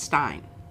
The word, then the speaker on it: Stein: looking shiny looking shiny if the eye is before the E you pronounce the E if the E is before the I you pronounce the I in German I don't know how